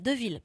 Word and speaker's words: Deville: Deville, pas débile.